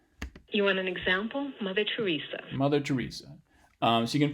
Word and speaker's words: Teresa: Mother Teresa. Yeah, so the H plus downstepped H star here is on Teresa, that part of Mother Teresa, and the second syllable is what's being stressed here in Teresa, and that's